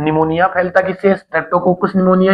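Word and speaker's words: pneumonia: निमोनिया आपने सुना होगा ना, निमोनिया, इसके अंदर आपने स्पेलिंग ध्यान रखनी है, ये निमोनिया, लेकिन इसमें स्टार्टिंग पी से होती है, पी इसके अंदर क्या है, साइलेंट है, तो निमोनिया है।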